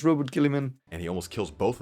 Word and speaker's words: Guilliman: Lion and outright kills it's really hard to pronounce his name for me, Robbie Gooley, so I'm going to call him Robbie Gooley? Robert Guilliman. So Robert Gilliman. I think it's Robert Gilliman.